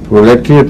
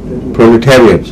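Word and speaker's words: proletariat: کی اصلاح کر لے، پرولیٹریٹ نہیں ہے، پرولیٹیریٹ۔ اور وجہ یہ ہے غلطی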